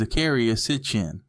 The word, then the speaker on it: Zecharia Sitchin: They say the most correct pronunciation is Zakaria Sitchin.